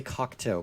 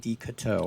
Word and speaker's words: Decoteau: I always want to say Cocteau, but it's David Decoteau.